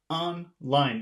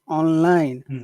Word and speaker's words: online: you have to say on line it seems like both syllables are accented yes okay so online online but if we